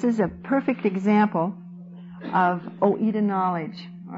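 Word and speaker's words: οἶδα: Now, the Greek word for this kind of knowledge is oida, o i d a. Again, probably Greek scholars would die if they heard my pronunciation of some of these Greek words, but it's oida, you pronounce it the way you want to do it.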